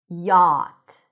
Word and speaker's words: yacht: Yacht. Yacht. So we actually don't pronounce the CH.